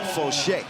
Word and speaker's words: Fauché: He says it's Jules Rambo and Vincent Fauché.